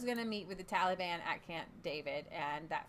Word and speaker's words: Taliban: Yeah, they're the Taliban. It's not Taliban. It's Taliban. Like you're gonna say they